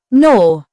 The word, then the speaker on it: gnaw: The gn sound usually has a silent g when it appears at the beginning of words. The n is pronounced, and the g is not heard. Examples: gnome, gnaw, gnat.